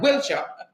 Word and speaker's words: Wiltshire: Somebody actually sent me the pronunciation. I love it. Keep a shout. Wiltshire.